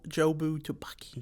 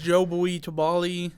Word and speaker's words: Jobu Tupaki: Jobu Tupaki. Jobu Tupaki. That's another thing. Evelyn can never say her name in the movie. I can't either. She says Jobu Tubali, and she just comes up with all these different names.